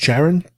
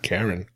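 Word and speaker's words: Charon: figure on the line it's cheran I think that's how it's pronounced Sharon Sharon Karen not Karen Sharon anyway this is the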